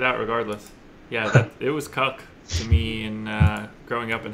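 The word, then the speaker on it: Koch: plays here against Matt cook down on YouTube you know search any name or any word the pronunciation on here now it's cook yeah interesting okay Matt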